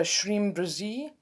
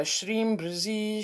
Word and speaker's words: Shreem Brzee: i also used other things like the mantra shreem brzee i don't know if you've ever heard of